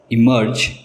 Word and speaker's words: emerge: इमर्ज, इमर्ज, दोनों words के pronunciation same है।